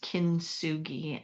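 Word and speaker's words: kintsugi: It's this art form is called kinsugi and it's spelled k i n t s u g i pronounced kinsugi and it uh dates back to the 15th century.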